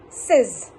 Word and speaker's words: says: But exactly how to pronounce that word says is says.